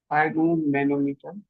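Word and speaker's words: sphygmomanometer: হাইগ্রোমো ম্যানোমিটার, এস রয়েছে silent, হাইগ্রোমো ম্যানোমিটার, ঠিক আছে, পরীক্ষাতে আসে, ঠিক আছে।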